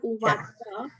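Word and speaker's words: उवाच: Okay, so just to give you some information, in Sanskrit, the word CA is always pronounced as cha. It's not ka or sa, it is CA is always cha. So it's Sanjay Uvacha.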